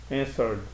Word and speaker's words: answered: Answered. Na hora de pronunciar, eu pronuncio só o D.